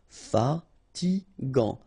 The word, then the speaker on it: fatigant: In that case, you get A N, so it's gant. Final T not pronounced. Fatigant, fatigant.